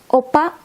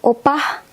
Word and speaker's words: opa: In Indonesian language or Bahasa Indonesia, sometimes we use opa, or sometimes you hear it as opah. There's a bit silent H or tiny H at the end.